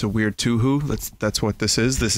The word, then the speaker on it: Touhou: Okay, this is the canon pronunciation of the word. You can't argue with Charles. He's English. Touhou. You heard it. Touhou.